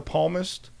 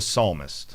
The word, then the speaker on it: psalmist: this one even though it looks like the palmest it's the psalmist well it is palm sunday you know he